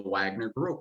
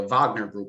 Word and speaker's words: Wagner: russian mercenaries within the wagner group or uh wagner group rather is the proper pronunciation but it's spelled wagner so i urge people